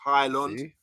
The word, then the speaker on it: Højlund: Emma thank you again how to pronounce Highland um someone came on the show yesterday and broke it down really well for us it's oi something like oil and so you were